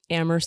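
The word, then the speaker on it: Amherst: the college the university ammer college teeny tiny fancy fancy ammer white people College if you Pro approach if you pronounce the h we know you don't know what you're talking about yeah pretty much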